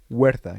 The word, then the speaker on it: Huerta: actor Tenoch Huerta, or sorry, Huerta. You don't pronounce Mhm. you don't pronounce the H.